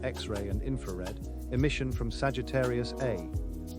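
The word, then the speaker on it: Sagittarius A*: 40 years later, scientists identified the intense radio, along with X-ray and infrared, emission from Sagittarius A, pronounced star, a region believed to harbor a 40 million solar mass black hole at the center of our galaxy.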